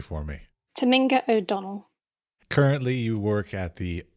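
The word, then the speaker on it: Tominga O'Donnell: could you please pronounce your name correctly for me Taminga o' Donnell currently you work at the is I always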